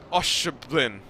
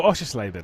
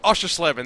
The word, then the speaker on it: Oschersleben: Oscherblin. Oh, Oschersleben. Oh, Oschersleben. There we go. Oschersleben. That's not that bad. Okay. Well, we'll figure it out one day. That's Oschersleben.